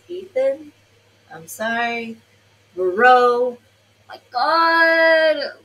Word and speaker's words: Ethan: It's like Hitan is how it's sounding because of his Italian accent. Americans will pronounce this as Ethan.